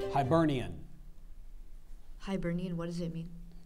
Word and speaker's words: Hibernian: name and a Latin derived English element it's pronounced Hibernian or Hibernian Hibernian h i b e r n i a